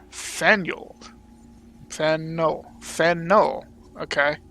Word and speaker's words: Faneuil: Boston wonderful place and don't let the French spelling confuse you the name of this building is pronounced Fanueil or Fanueil and no fan no